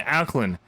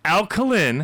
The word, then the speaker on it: alkaline: Like when he says he dismisses Gamgee, he's not, no, because he knows he's not the like even alkaline, which you pronounce wrong. Alkaline. It's alkaline.